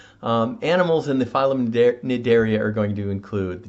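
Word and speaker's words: Cnidaria: phylum is the phylum nedaria now i know this one sounds a little weird the sea in the daria is silent uh but these are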